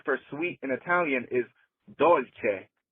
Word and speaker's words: dolce: sweet in Italian is dolce. D O L C E. So if it's d o l c e, it's Italian and it's pronounced dolce.